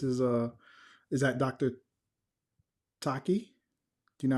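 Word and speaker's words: Tachi: Is it Taki or Tashi? You you'll have to pronounce it. Tashi in the Yeah, tell us in the the chat how to pronounce it so we can put respect on your name. Yes, I believe it's Tashi. T A C H I.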